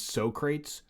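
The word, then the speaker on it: Socrates: yeah i do have to uh correct your pronunciation of something uh it's so crates thank you so crates i'm sorry yes so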